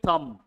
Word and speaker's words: thumb: He has a green thumb. Have you heard of this? Write the sentence also. He has a green thumb. He has a green thumb. B is silent.